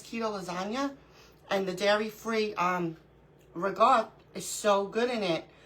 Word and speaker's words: ricotta: So I'm on the hunt for dairy-free, I'm going to say it like everyone says it, ricotta cheese. I don't pronounce it like that. I pronounce it ricotta because I'm Italian.